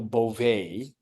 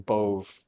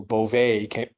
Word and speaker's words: Bove: the personage of Emile Beauvais, who I've been pronouncing his name Bove for about a week now, and I feel really bad about that. So Beauvais came in and said, there is no quid pro quo here.